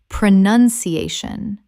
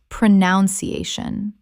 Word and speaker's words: pronunciation: Pronunciation, not pronunciation.